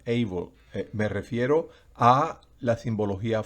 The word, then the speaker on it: able: El diccionario que yo estoy utilizando para resaltar que el sonido de la vocal es como su original en inglés, recuerden, lleva esa rayita encima, able.